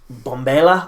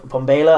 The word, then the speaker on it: Mbombela: i'm going to be it's bombayla i always get slagged off by south africans in the comments section for how badly i've pronounced their stuff bombayla i guess or mbombela uh stadium uh in